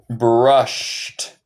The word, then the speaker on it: brushed: Y nota aquí, como yo dije, el ed en el tiempo pasado va a sonar como un d o un t. Esto suena como t. Brushed. Brushed. So no se dice el e.